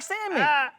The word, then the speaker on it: salmon: move in silence like salmon. And so if you're watching this and I ain't never told y'all the L in salmon is silent, and I've been having a tough time keeping that from y'all.